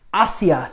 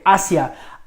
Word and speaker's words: hacia: Okay, hacia. Hacia, pronounced hacia. There is another word, hacia, with an accent on that I, and that's a past tense, the imperfect past tense of the verb hacer, to do or to